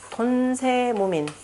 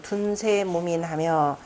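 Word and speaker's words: 遯世无悶: 돈세무민, 은둔 말 단어 나오죠? 찾았나요? 은둔이라고 하는 단어 바로 건괴 초구요해서 나온 내용입니다. 우리는 지금 주역 대명으로 해서 돈이라고 했는데 원래 은둔한다라고 하는 둔이라고 읽어야 되는 거죠. 그래서 둔세무민하며 세상을 은둔하여도 민망함이 없으며,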